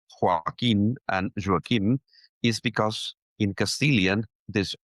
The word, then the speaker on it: Joaquim: the United States, but I was pronouncing it Joaquim. This is like in Castilian. But it's pronounced Joaquim. Yeah.